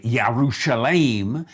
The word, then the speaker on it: Jerusalem: jira there we get jerusalem in english again the the hebrew people would say yerushalayim we would say jerusalem so the english has